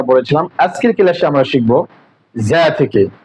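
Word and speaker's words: ز: এখানে দেখেন যা হরফের সময় অনেকে উচ্চারণ করে থাকে অনেকে আবার উচ্চারণ করে থাকেন ঝা। আসলে ঝা আর রা এরকম কোন শব্দ জ্যাক নয়। তাহলে আমাদের উচ্চারণ করতে হবে যা, মৃদ শক্ত এবং মৃদ নরম।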